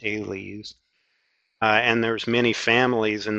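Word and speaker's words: -ales: It's in the Order Sapindales, all orders end in A-L-E-S and that's pronounced "aileys."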